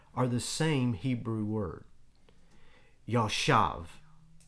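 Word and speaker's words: ישב: Yashav is the word. A little two-syllable, tiny little word.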